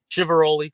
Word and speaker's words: Chiveroli: Chiveroli like ravioli for Oh my god.